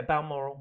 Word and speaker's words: Balmoral: just the speed at which you guys see some of the vehicles that were pulling into Balmoral, did I pronounce Yeah. that right? Yeah, Balmoral.